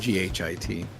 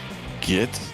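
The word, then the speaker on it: Ghit: of uh e1r and g-h-i-t exactly yes and the correct correct way to say it is not get like mental it's g-hit e-hit yeah usually what i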